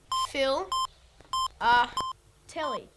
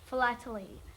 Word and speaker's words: philately: we go what's that phil uh telly what's filler telly that's stamp collecting except you say it like this philately phil phil lat let er er lee lee flatly ah philately okay